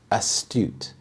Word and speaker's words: astute: use the word astute astute the stress is on the second syllable astute this means having